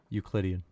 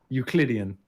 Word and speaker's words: Euclidean: Euclidean. Euclidean.